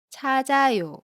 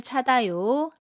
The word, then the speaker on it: 찾아요: How would you pronounce it? You should say . is wrong.